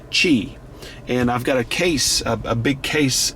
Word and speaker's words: Qi: got a q i that is actually pronounced chi and i've got a